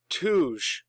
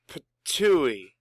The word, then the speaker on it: Ptuj: Tuj. Tuj, Slovenia. Let's see. It's Ptuj.